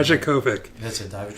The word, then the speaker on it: Dijakovic: Dijakovic.